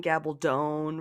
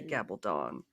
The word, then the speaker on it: Gabaldon: hard because I think she said that it don't gabble don't rhymes with stone so I have a hard time with it too because I always want to say Gabaldon um but yes and